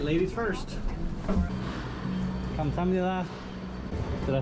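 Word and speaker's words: 감사합니다: Kamsamnida. Did I say it right, HG? Kamsamnida.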